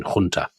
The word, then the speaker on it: junta: He's the head of something called the National Salvation Junta. Or I suppose they would say junta in Portugal because they pronounce the J's.